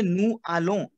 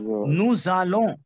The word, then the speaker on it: nous allons: Whenever you have a consonant ending, right, and the next word is starting from a vowel, you have to combine za. Répétez après moi. Za. Za. Nous allons.